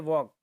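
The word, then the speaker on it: walk: कि वॉक, ठीक है, तो एल जो है उसके नीचे अंडरलाइन की है, तो वो साइलेंट है, हम बोलते हैं वॉक, तो उसमें एल जो वर्ड है, ठीक है, हम कहते हैं ल, तो वो बोला नहीं जाता है, तो वो साइलेंट हो जाता है वहाँ पे।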